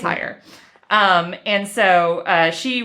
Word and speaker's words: Heyer: i recognize the name yes and i hope i'm pronouncing that i think it's it's spelled h-e-y-e-r i believe you're pronouncing it right i think it's higher um and so uh